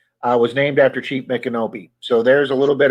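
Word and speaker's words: Micanopy: of course mikkonopi mike how do you pronounce that pat mcanopy nick and opie jesus i knew that i was named after chief mick kenobi so there's a little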